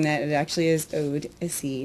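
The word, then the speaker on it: Odessey: And I'm not mispronouncing that. It actually is Odyssey, not Odyssey.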